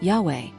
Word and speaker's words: Yahweh: In Hebrew, the verb in the first person is Ehyeh, and in the third person Yahweh or something similar, suggesting that the pronunciation of the divine name was linked to this verb.